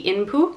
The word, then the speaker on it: Inpu: we know him also i think a more accurate way of saying his name would be inpu and he is generally